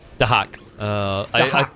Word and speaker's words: Dahak: But Dyak able to how are you pronouncing the name? Dahak. Yeah, that's how it's meant to be pronounced.